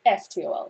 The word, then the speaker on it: naftol: it's NaFTOL in Spanish.